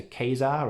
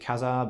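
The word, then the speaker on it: Ka-Zar: introduction of the character keizar or khazar i always pronounced it khazar but i hear a lot of people say keizer but anyway yeah he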